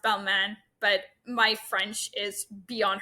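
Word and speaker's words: Balmain: are the jeans by Balman I call it balain I know it's pronounced Balman but my French is beyond horrific as you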